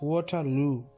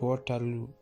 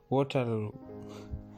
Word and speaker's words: Waterloo: we are going to, it's pronounced Waterloo, right?" I said, "Waterloo." Axe shook his head. "No, it's Waterloo, not Waterloo." "Do that for me again." "Waterloo," Axe said, his lips pursing just so.